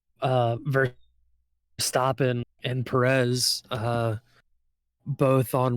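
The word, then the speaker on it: Verstappen: what's his face um I always want to call him uh ver uh verac but that's not how you say his name uh ver stopen and Perez uh both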